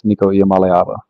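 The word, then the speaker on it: Nico Iamaleava: pronunciation one more time I believe it's nikala um some say a at the end but it's niiko malava yeah I uh you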